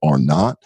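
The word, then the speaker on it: R0: in epidemiologic terms it's it's written as R zero so you may see it as that or its pronounces or not that means that one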